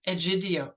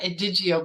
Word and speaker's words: Egidio: So this healer's name was Jean Egidio. I used to call it Edigio, but anyway, you'll see the you know, the spelling and figure out the pronunciation.